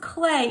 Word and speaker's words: Klee: learn about paul clay it's pronounced clay even though the spelling is k-l-e-e all right so this